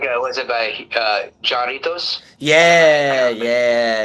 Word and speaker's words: Jarritos: The J is an H. The tamarind. Yeah. It's like haha. So it's Jarritos. Tamarindo. Okay. That's how you say it in Spanish.